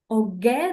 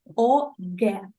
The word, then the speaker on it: OGE: OGE, this is the way it is pronounced in Russia, please. OGE.